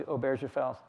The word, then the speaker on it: Obergefell: minority side in the Obergefell, I cannot pronounce that name. Obergefell, it's tough. Obergefell. Hard G, I think.